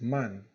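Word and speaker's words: 万: highlight them right here these are both pronounced the pretty much the same way it's man okay so m-a-n uh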